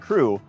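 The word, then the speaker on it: krewe: that we had and crew since those days is spelled k-r-e-w-e which is a fake old english spelling of just the word crew c-r-e-w and crews are social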